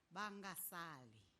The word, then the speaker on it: Vangasali: I've been correcting to say, let's say it properly, Vangasali.